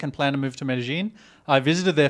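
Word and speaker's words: Medellín: John Knox says, what is the correct way to pronounce Medellin?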